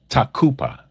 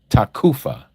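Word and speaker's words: תקופה: In the Hebrew word, it is takupa. Takupa. Some people pronounce it takufa with a f like in Frank, but it's actually a P sound.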